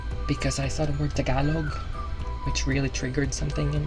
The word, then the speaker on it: Tagalog: It's Tagalog, not Tagalog. Or if you want to make it more American, you say Tagalog. It's a little closer to the original word or original pronunciation, so it's better to say Tagalog or Tagalog. Actually, Tagalog is more appropriate, not Tagalog.